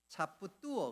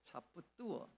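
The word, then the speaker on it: 差不多: 제가 이 발음을 정확하게 하기 위해서 어제 지근영 집사님한테 전화했습니다. 발음 어떻게 하냐고. 그랬더니까 차뿌뚜어, 그렇게 차뿌뚜어.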